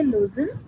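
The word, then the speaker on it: Lausanne: मिले हैं from लोजन एल ए यू एस ए एन एन ई इसे हम प्रोनाउंस करेंगे लोजन ठीक है जहां पर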